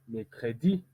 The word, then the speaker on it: mercredi: Pourquoi on ne peut pas dire mercredi ou mercredi? On dit mercredi, plus accentué au niveau de l'intonation.